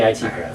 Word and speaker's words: IT Crowd: Why isn't it the IT Crowd? I know that they're IT guys, but is it definitely pronounced that way? It's definitely the IT Crowd.